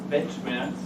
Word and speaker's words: Weltschmerz: Weltschmerz means having pain over the world. Okay, Weltschmerz. Sorry for my pronunciation.